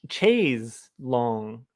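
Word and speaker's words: chaise longue: say chase lounge but wet leg girls are saying chase long and chase long i think is actually the and i think it's like chase long and i think that's actually the correct pronunciation which is why i'm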